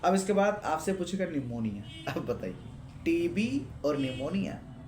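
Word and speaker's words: pneumonia: बन गए निमो लेकिन निमोनिया के बारे में बताना चाहता हूं इसमें साइलेंट जो प इसकी स्पेलिंग प से शुरुआत होती है जैसे हमारे दादा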